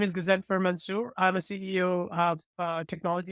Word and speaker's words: Ghazenfer Mansoor: I'm joined here today with a very special guest, Ghazenfer Mansoor. I'm sorry, did I mispronounce that again? I asked you right Ghazen, before we started. that's perfect. Ghazenfer Mansoor.